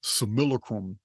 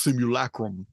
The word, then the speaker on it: simulacrum: Theory the idea that we live in this similacrum it's pronounced simulacrum in the old lat in the old Latin